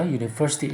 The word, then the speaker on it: university: University itu diucapkan dimulai dengan U, yaitu consonant, ya, consonant sound.